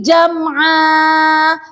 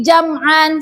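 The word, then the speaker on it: جمعا: Fawasabna bihi jam'a. Bukan dibaca seperti ini. Fawasabna bihi jam'an. Salah. Ya, jika ada mat iwat seperti ini, fathah tanwin di akhir ayat, cara membacanya itu seperti mat asli. Kenapa? Karena menggantikan fathah tanwin ini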